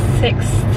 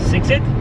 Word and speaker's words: Sixt: So we decided to go with the company called Sixt, I think it's pronounced. How would you say it? Sixit? Oh, Sixit. Sixit. I always pronounce it wrong. I don't know, for some reason I thought it was like six. Sixit. Like 6-6. It's hard for me to say that.